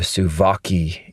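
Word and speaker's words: Suwałki: construction, traffic, always raining, and that uh and the gap, the Sawaki gap, the Suvaki, if you pronounce it the Polish way, but I'm going to pronounce it the American way cuz I'm an American.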